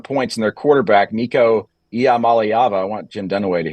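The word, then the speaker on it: Iamaleava: puts up 51 points in their quarterback Nico yam malava I want Jim dunway to hear that so he knows how to pronounce it uh uh throws two interceptions and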